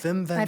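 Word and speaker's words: Wim Wenders: We are going to be doing Paris, Texas by Vim Venders. I've heard of it by what? His name is Vim Venders, a German guy. It's spelled like Whim Wenders, but Oh, yeah. German. Okay. Okay.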